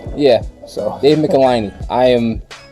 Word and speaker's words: Michelinie: Well, Jim Shooter used to write it rhymes with pickle my knee. Yeah. So David Michelinie.